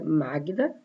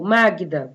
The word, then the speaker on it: Magda: Ou Magda, por exemplo, Magda é como se eu pronunciasse G-U-I, Magda, Gui, né?